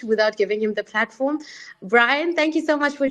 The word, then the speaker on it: Brryan: It's Brryan. If you can pronounce it Brryan, that would be great.